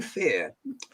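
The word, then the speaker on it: Fehr: This is coming from Fear, F-E-H-R. So I'm going to pronounce that as Fear.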